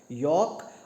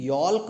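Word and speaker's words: yolk: होगा पीला वाला पार्ट इस कॉर्ड योक और इसे कोई भी यॉर्क मत पर देना है लीड साइलेंट यह यॉर्क न्यू यॉर्क हु इज द 0.80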